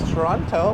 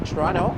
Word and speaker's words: Toronto: A lot of tourists, when they come to Toronto, they pronounce Toronto as Toronto with the hard T. We pronounce it with a silent T, Toronto.